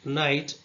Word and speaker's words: night: For example, night wrist comb So in the first word night, K is silent.